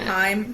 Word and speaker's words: Haim: Haim, is that how you pronounce it?